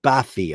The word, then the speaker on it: Barfi: My daughter's kitten, Barfi, Persian name, pronounced Bafi.